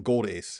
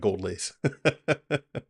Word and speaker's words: Gold Ace: Gold Ace, not Gold Lace.